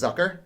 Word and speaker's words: Zucker: back zuker zucker uh exactly pronounced last name it's one of the easy ones that you hear the different announcers say it differently i think it's zucker yeah okay when he